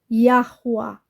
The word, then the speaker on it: יהוה: atenção dias virão diz não é ya não é abreviado tem uma pronúncia essas quatro letras em hebraico yahua está na descrição o